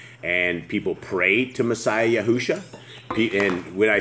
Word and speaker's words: Yahushua: Messiah Yahushua, it's like Joshua with a Y.